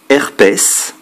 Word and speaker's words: herpès: également avec ds prononcé exemple aloès le s est prononcé herpès le s est prononcé